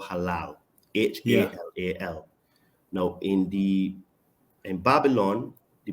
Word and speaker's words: halal: permitted is called halal, H-A-L-A-L. Now, in Babylon, the pronunciation and the spelling is the same. Sorry, the pronunciation is halal, but it's spelled Hellel, H-E-L-E-L.